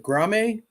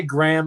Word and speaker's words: Graham: Is it Grame? Oh, you just say Graham.